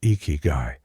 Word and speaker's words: Ikigai: Ikigai, pronounced Ikigai, translates roughly to a reason for being, or the reason you wake up in the morning.